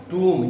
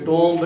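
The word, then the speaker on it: tomb: टूम, ये टोम्ब नहीं होता। टोम्ब एमबी इकट्ठा है तो बी वैसे साइलेंट हो जाता है, बी को तो हम वैसे नहीं प्रोनाउंस करेंगे, ठीक है। फिर इसका प्रोनाउंसिएशन ये टोम नहीं होगा, टूम, ठीक है।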